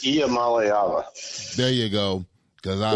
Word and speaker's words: Iamaleava: You want to pronounce his last name, Dean? It's Iamaleava.